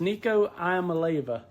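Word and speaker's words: Nico Iamaleava: Me and Uncle Todd can barely say it, but it's Nico Iamaleva.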